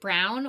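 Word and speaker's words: Braun: wrote highoctane brain it's I think you pronounce it brown or it's b r a u n Michelle Dr Michelle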